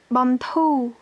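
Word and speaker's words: បន្ធូរ: Bantou, bantou. Donc, dans ce mot-là, bantou, on a la consonne finale ro, mais elle ne se prononce pas. Donc, c'est juste bantou.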